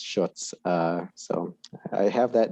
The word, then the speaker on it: Schutz: This would be Schutz, and he is up for re-election. Hi, everyone. Last name actually rhymes with Toots. It's probably the easiest way to remember it. It's Schutz.